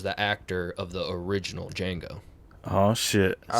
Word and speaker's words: Django: and uh you know django was like you know dj you know the d silent and he goes i know that was the actor of the original django oh